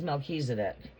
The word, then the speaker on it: Melchizedek: Melchizedek pronounced as, well, it's pronounced as Melchizedek.